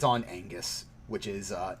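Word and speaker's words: Oengus: to it it's on angus which is uh not spelled like the word angus but i am led to believe that it's pronounced like angus um o e n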